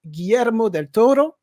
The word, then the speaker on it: Guillermo del Toro: je ne m'abuse d'un grand réalisateur j'ai nommé Guillermo Del Toro est-ce que je l'ai bien prononcé bien perfecto OK et donc ce film